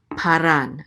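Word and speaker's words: פָּארָן: And then we have a resh right here with a kamat, so this is ra. And this is a nun sofit, so this is ran. Paran.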